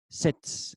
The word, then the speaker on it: Stets: La palabra en alemán que se menciona aquí se escribe S-T-E-T-S, Stets.